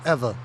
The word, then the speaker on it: Ewa: notice a place uh it's spelled Ewa Beach a lot of people say EA Beach it's actually Eva Beach ah which means West